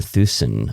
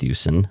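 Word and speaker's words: Thuesen: book called predestination by peter thusen i think it's pronounced thuson where he put the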